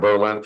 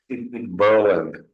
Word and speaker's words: Berlin: system by the way it's not Berlin Berlin it's Berlin just for your history it's Berlin because uh at War time they uh changed the pronunciation of their City instead of Berlin to Berlin my sister lived there